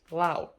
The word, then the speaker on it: Lau: I saw the last name Lau, Lau, and I was like, oh my god, Hongkonger? Because the same word is pronounced different in Mandarin. In Mandarin, it's Liu, Liu, but right here is Lao, Lao.